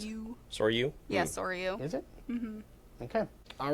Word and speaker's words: Soryu: how you pronounce it? Soryu. Soryu? Yeah, Soryu.